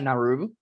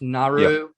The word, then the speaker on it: Naru: But moving quickly on, we meet the main character, Naru, or I think that's how it's pronounced, Naru.